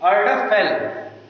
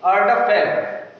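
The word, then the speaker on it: Erdapfel: We can pronounce it Erdaphel.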